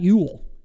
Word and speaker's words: Eul: today I have to my right uh Scott Ewell and I pronounced that correctly you did you nailed it